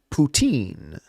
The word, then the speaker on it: poutine: it properly it is poutine teen poutine Winnie the Pooh who goes to a high school a teen poutin that is how